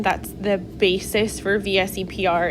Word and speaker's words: VSEPR: something that's called the vsepr model some people pronounce that as a vesper they like make it a word okay but it's an